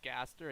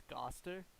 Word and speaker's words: Gaster: His in the comic dub, his name is pronounced like with an accent, so it's like instead of it's Gaster, it's Goster. Goster, Goster, Goster. like Gostar.